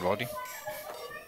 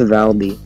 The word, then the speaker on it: Valdi: I think we're still waiting on Baldi. Whenever you say Baldi, I think Baldi, like bald person, like no hair. I'm glad you went. Yeah, it's pronounced Valdi.